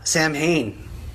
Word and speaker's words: Samhain: Or Samhain, if you want to pronounce it the way that I think Danzig pronounces it, or whatever, or how it is supposed to be pronounced.